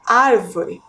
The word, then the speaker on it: árvore: observem aí na tela ao realizar a pronúncia da palavra árvore podemos perceber que a sílaba mais forte é a antepenúltima ar né observem ali